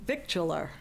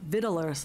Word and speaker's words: victualler: And I got stuck on the word Victualler, which I had been pronouncing, which is our next item that has to do with the bagel shop, that I had pronouncing victular. And so that everyone knows, that is not the way you pronounce that, according to at least 2 dozen.